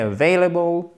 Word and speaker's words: available: Est-ce qu'il est available? Available. Ok? Accent tonique ici. C'est une diphtongue. Available.